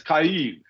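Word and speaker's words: Kyiv: know I don't know because that's the Russian pronunciation the in Ukrainian is khaib right not key so think about this they're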